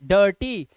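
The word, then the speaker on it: dirty: हैं हम डर्टी डर्टी तो ये आई के बाद आर आने की वजह से य आई का उच्चारण आ जैसा हो गया है डर्टी इसी तरह से इसे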